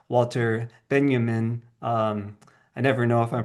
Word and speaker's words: Benjamin: of others like Walter Benjamin. I never know if I'm pronouncing his last name. That's that's Benjamin. Yes yes it's a German name.